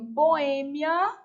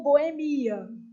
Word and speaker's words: boêmia: Depois eu tenho boêmia ou boemia. As duas são consideradas corretas.